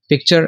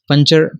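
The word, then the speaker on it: puncture: पंचर, पंचर हो सुराख को कहते हैं, यहाँ पे सी जो है ये साइलेंट है, ठीक है, पन और चर, पंचर, ठीक है, पंक्चर इस तरह नहीं कहते, पंचर सुराख को कहते हैं।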